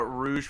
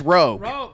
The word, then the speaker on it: Rogue: collective minds well this dude was talking about rouge from the x-men that's rogue roe can get it rogue from the 90s